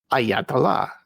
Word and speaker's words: Ayatollah: Ayat and Allah. I'll say that a few times faster. Ayatah. Ayatah. Ayatah.